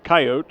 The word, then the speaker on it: coyote: and then I had coyote rising or coyote as we discussed yesterday some people pronounce it coyote I always called it coyote what would rhyme with peyote it would in fact